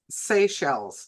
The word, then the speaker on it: Seychelles: And otherwise, I'll see you guys tomorrow for Seychelles, whatever it is. I'll pronounce it right tomorrow. All right. It's pronounced Seychelles. Seychelles, like seashells by Yep, the but Seychelles.